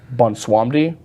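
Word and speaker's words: Bwonsamdi: It's Bunswamdi, but it's spelled Bonswansamdi.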